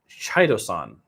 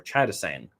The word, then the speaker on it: chitosan: So into a chemical, and I'm going to try to pronounce it, chitosan or chitosan, CHITOSAN. So like chitinous or chitness.